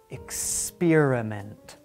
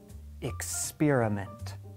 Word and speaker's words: experiment: like this exam but if an X is followed by a consonant or if it is at the end of the word it is pronounced think back to our